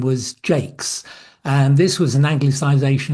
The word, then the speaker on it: Jacques: On my father's side, my grandmother's maiden name was Jakes, and this was an anglicisation of the French name Jacques. And although she pronounced it the English way, she still spelt it the French way.